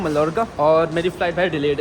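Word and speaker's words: Mallorca: ये भाई पाल्मा दे मायोरका एक्चुअली भाई, डबल L जो है ना स्पेनिश में वाई प्रोनाउंस करते हैं।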